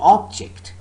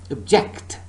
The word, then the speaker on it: object: the noun record or object. So the first syllable is stressed. But so far as the verb is concerned, remember the second syllable is stressed. Record, object.